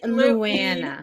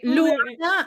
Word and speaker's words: Lana: Look, my name is Lana. Okay. Lana. That's how you say it in Spanish. Lana.